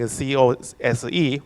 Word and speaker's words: COSE: And the signature are encoded using COSE, which pronounces COS, which stands for Serial Object Signing and Encryption.